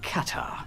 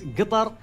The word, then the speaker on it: Qatar: Katar. So, everybody says different things. So, we've heard now cutter gutter cutter.